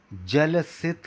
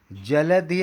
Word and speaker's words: जलधि: जलधि, धी नहीं बोल पाते हमारे कई मित्रगण, वो बोलते हैं जलसित रंगा। देखिए कितना गलत हो जाता है। जलधि अलग है, तरंग अलग है। जलधि मतलब बहुत बड़ा जल